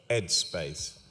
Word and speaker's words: EdSpace: Now, that's not bad pronunciation. EdSpace. That's what it's called. It starts with an E, not an H.